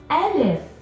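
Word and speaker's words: ألف: give you a hint the sound of the letter can be found in the first part of the name so if it's called elif starts with the ah it makes the sound ah the letter n f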